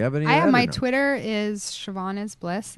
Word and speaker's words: Siobhan: Siobhan this is why the Irish drink. It's S-I-O. B as in Barbara, H as in Hannah, A-N. Right, and the B-H is pronounced V, right?